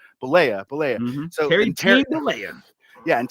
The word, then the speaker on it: Bollea: to argue that Hulk Hogan and Terry Bolivia, how do you say his last name? Bollea. Bollea.